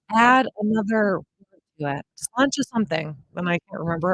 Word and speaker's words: sláinte: Do you know how to say the Irish cheers? You've seen it? Sláinte. That's how they say it. Sláinte.